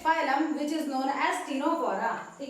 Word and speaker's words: Ctenophora: Which is known as टिनोफोरा। ठीक है, लेना है स्क्रीनशॉट तो ले लीजिए जल्दी। अब बात करते हैं टिनोफोरा। Phylum टिनोफोरा। ठीक है, तो सी साइलेंट होगा यहाँ पे।